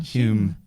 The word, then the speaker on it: Home: Maybe it's Home? just a posh way of saying Hume.